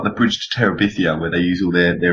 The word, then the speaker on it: Terabithia: Bridge to Tabitha or whatever it's called. Yeah, however you say it. Laurence? Bridge to? Terabithia.